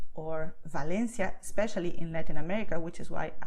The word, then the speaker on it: Valencia: Officially in Spanish, both letters have the same sound, which is B. So you would say Venezuela, Valencia, Barcelona, Berga, okay? And this is so because both letters have the same sound. You see, my two lips are touching when I say Venezuela, okay?